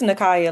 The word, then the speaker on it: Nikia: It's a hard C though. It's Nakaya, like Nick and Mariah. Nikaya.